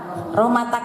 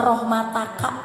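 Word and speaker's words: رحمتك: Rahmatak teh kalau mau ditulis mah rahmataka. Karena dibacanya waqaf jadi rahmatak ya.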